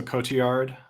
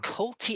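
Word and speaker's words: Cotillard: is it the team I think the L's are pronounced like a y so Cote yard that's it that's how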